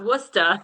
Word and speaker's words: Worcester: And then I was like, nah, it's Worcester.